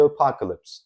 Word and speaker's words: apocalypse: sadece apocalyps diye telaffuz ediliyor.